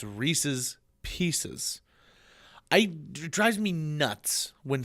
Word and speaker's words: Reese's Pieces: and Dale Rescue Rangers people also say Reese's pcs that's not right it's Reese's Pieces I drives me nuts